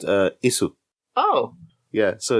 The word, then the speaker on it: Ys: Well, actually, I've been pronouncing it as Wise for years because I thought it was Wise, YS. And it's not Wise, it's not Ease, it's not Is, it's basically Is. In Japanese, it would be pronounced Isu.